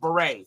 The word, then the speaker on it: Bere: Pronounced beret. Thank you there Davo9 like raspberry beret beret 53 against the lefty